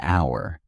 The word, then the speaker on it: hour: For example, an hour because the h is silent and it starts with a vowel sound.